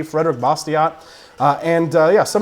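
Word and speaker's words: Bastiat: argument that we're facing nowaday and and friedi bosot was facing those same problems when he uh was arguing this in the French legislature if you guys haven't read bosot another great book uh his last name is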